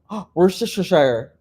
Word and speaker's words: Worcestershire: Fish is a common ingredient in Worcestershire. Worcestershire. I pronounced it right.